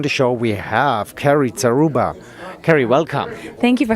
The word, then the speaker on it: Zaruba: show we have carrie zaruba carrie welcome thank you for having me i hope i pronounced your name correct you absolutely did thank you beautiful hey